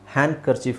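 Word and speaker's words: handkerchief: ವಸ್ತ್ರ ಆ ಮೀನಿಂಗ್ ಆಗುತ್ತಲ್ಲ ಬಟ್ ಇಲ್ಲಿ ಹ್ಯಾಂಡ್ ಕರ್ಚಿಫ್ ಒಟ್ಟಿಗೆ ಬಂದಾಗ ಡಿ ಸೈಲೆಂಟ್ ಮಾಡ್ಬಿಟ್ಟು ಹ್ಯಾಂಡ್ ಕರ್ಚಿಫ್ ಅಂತ ಹೇಳಿದ್ರು ಸಾಕು ಅದೇ correct pronunciation ಹ್ಯಾಂಡ್ ಕರ್ಚಿಫ್ ಡಿ ನ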